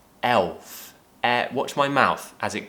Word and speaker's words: Elf: Again, a dark L. Elf.